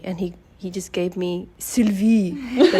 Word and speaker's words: Sylvie: Yeah, so it's Sylvie, but people in Hong Kong tend to call me other things. You know, they can't pronounce Sylvie or Sylvie. I get a lot of Sylvias. Yeah, that's my name. I think the Y throws people off when they read it.